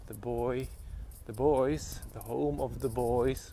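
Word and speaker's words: Boii: A small tribe of the Celts actually called the Boys, right? The Boys not spelled with a Y, with a double I instead. So more correctly they would be called the people of Boja.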